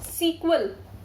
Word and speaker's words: SQL: देखो SQL को हम प्रोनाउंस करते हैं सीक्वल। ठीक है, SEQUEL, it's pronounced as अ सीक्वल।